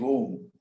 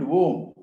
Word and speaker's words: Om: Other than that, when you try to do Upasana of trying to understand what is Om, it is a combination of three syllables. A, U, Ma.